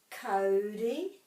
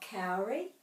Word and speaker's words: kauri: consistently pronounced phonetic language, every time you see au, it will always be pronounced O. Every time. So this is aho. Maunga. Aho is I. Maunga, mountain. This is whānau, family. Taupo, tauranga. Kauri, not kauri.